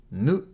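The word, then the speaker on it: ぬ: Nu. Nu. Nu is pronounced like nu in noodle.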